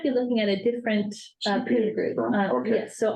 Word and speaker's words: Poon: okay, and it's pronounced Poon. Mhm. And the two principals, their last name is spelled P-O-O-N, is that correct? And that's pronounced Poon.